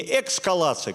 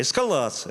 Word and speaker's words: эскалация: Репортаж должен быть произнесен четко, грамотно, не эскалация, как вот этот человек сказал, а эскалация, да.